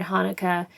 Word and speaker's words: Hanukkah: or a CH, because the sound at the beginning of the word Hanukkah in Hebrew is at the back of the throat, and it's more of a sound.